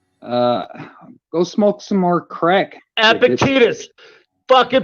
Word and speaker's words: Epictetus: No, it's Epictetus. Epictetus? All right. That's how you fucking pronounce it, fucking Riri.